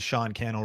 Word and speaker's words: Cannell: Hey, if you're just joining us, my name is Sean Cannell, rhymes with YouTube channel.